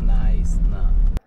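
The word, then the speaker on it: Knysna: it is sped okay nice now it is pronounced it nice now welcome to to nice town this is one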